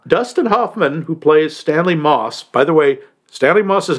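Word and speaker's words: Motss: Hoffman who plays Stanley Moss by the way an Moss's name is spelled m o TSS but the t is silent I don't know why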